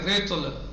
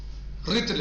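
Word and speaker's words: رطل: بکسر الراء یعنی ریتل علی الافصح، فصیح ترین لہجے اور زبان میں کیا ہے؟ رتل ہے، یعنی رے کو زیر ہے. وفتحہا، اور رتل پڑھ سکتے ہیں، فتح بھی دے سکتے ہیں اس کو، لیکن علی قلہ یہ بہت کم ہے.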